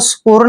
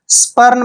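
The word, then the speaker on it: spurn: रूप में लगाएंगे स्पर्न आपको स्पूर्ण नहीं पढ़ना है स्पर्न पढ़ना है स्पर्न स्पर्न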